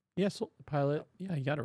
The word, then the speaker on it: Pilate: But for Pilate and the soldiers, did I say it wrong? Yes, pilot.